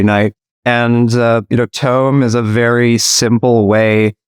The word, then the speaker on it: Tome: Paris he is the CEO and co-founder of tome t-o-m-e I'm pronouncing it correctly Keith yes exactly all right